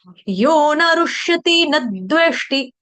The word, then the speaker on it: यो न रुष्यति न द्वेष्टि: ऐसे गाने से क्या हो जाएगा, दोनों मात्राएं मैंने क्या कर दी, दीर्घ कर दी। देखो, यो ना रुष्यति न द्वेष्टि, ये गलत उच्चारण कर रही हूं मैं, ऐसे नहीं गाना है। यो न रुष्यति न द्वेष्टि, बस, यो न रुष्यति न द्वेष्टि, न थोड़ा सा द बोल के थोड़ा फोर्स लगाना है, हाँ ऊपर, यो न